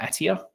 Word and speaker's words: Attia: a really cool book called outlive by Peter attia think is how you say his name he